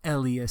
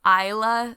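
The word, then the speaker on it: Eila: much the entire episode we were pronouncing the elias steel wrong brook what's the actual pronunciation yeah so i think it should actually be isla steel on a second glance uh it's actually spelled e-i-l-a which i would guess is isla yeah so i had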